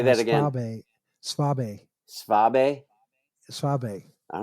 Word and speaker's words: Saab: gonna run um Schwab uh actually spab as I finally when I was over in Germany they told me how to pronounce it nice say that again Saab Saab Saab all right